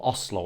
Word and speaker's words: Oslo: It's basically the beginning of a W sound.